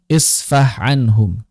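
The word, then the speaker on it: فَاصْفَحْ عَنْهُمْ: Nah, di sini ada pertemuan antara huruf ha dengan ain. Isfah anhum. Isfah anhum. Maka di sini hati-hati pertemuan antara ha dengan ain mesti diidizharkan.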